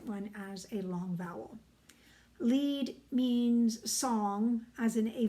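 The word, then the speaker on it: Lied: hearing a piece called Le which is spelled l i d and I know people go that's not how you would say that well if you're in Germany it is um when you have two vowels in German you ignore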